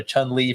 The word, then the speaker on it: Choen Lee: that like um that your name is pronounced like the character you know Chun Li from the game and there was also